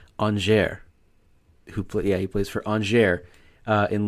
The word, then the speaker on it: Angers: I had to actually have to look up how to pronounce this. It's Angers.